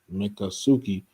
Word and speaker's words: Miccosukee: It's Miccosukee, but here it says Miccosukee is pronounced Miccosukee.